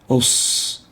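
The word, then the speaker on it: ص: The proper way is to pronounce it as a sad. Al-masir, sad, os, not s, os.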